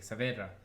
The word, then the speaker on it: Saavedra: And she's like, Saavedra, and I was like, What? all right, how do you spell it?